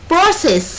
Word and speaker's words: process: هنا عندي اول كلمة هي germinate ينمو above اعلى او فوق get taller يطول process خلي بالك في كلمة process السي هنا اتنطقت سقسق عشان جاي وراها اي.